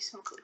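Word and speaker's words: Smoque: You see the Smoku Islands. This place is dark. Spell that. S-M-O-Q-U-E, Smoku.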